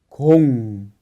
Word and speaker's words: 공: sería co pero con un ciclo como la pronunciación es con con que significa pelota con y otro ejemplo kan que significa rang y por último chango.